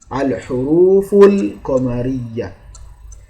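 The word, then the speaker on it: الحروف القمرية: Let me just tell you, the moon letters, just watch how I have pronounced it here. Al-huruf al-qamariyya. That means the lam, as it has been pronounced in the title here, that is how it must be in the rest of the words that has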